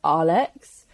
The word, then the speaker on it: Aalex: from Iraq um and the way that he says my name is pronounced Alex uh and growing up